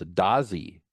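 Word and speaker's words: Dadzie: David, actually his name is pronounced, and I did not know this, Dazi, even though it looks like it's spelled Dadzi, right?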